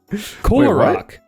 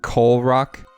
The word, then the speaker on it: Kolarok: in the movie, and some people think it's a mispronunciation, but then they just canonize it. They're like, no, that's Visorak's name. That Keelorak's name is Kolarok.